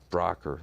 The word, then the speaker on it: Brougher: It sounds Brougher with a C, everyone will know but make sure you get the GH in there. Spelled Brougher, pronounced Brougher though.